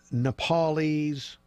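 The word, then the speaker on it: Nepalese: if you weren't watching earlier angela brought his nepal 'yes did I say it right yeah nepal 'yes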